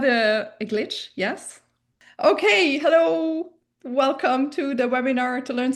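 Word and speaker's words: Wëllkomm: The first difference between the Luxembourgish and English pronunciation is this fact that the W's need to be pronounced like the English V. It's a hard V sound.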